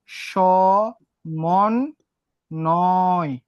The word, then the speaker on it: সমন্বয়: তারপরে দেখো সমন্বয় মাঝখানে আছে, তাহলে স মন নয়।